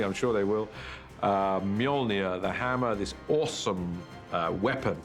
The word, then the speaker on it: Mjolnir: The first challenge with the hammer is to work out how to pronounce it, which is Mjolnir in our movie at the moment. Until somebody corrects me, I'm sure they will. Mjolnir, the hammer, this awesome weapon for Thor.